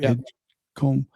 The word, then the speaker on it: Edgecombe: Edgecombe?